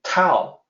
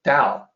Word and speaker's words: Tao: If I say someone pronouncing Tao, the Tao, I'll say, well, you're wrong about that. It's actually Tao.